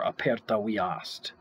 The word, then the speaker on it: aperta via est: Dira mortis aperta via est, or aperta viast, as they would pronounce it.